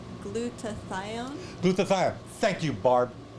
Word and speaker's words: glutathione: that you pronounced is supposed to be glutathione glutathione thank you barb